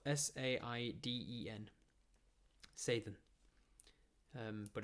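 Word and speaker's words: Saiden: uh it's spelt s-a-i-d-e-n sathyan um but it's pronounced with sort of like a soft th as of thd say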